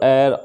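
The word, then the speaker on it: heir: यहाँ पर एच जो है फ्रेंड्स वो साइलेंट है, मतलब इसका साउंड है ना एच से नहीं निकलता, साउंड जो है वो अ से निकलता है। अवर, एयर, ऑनेस्ट, ऑनरेबल, ये सब।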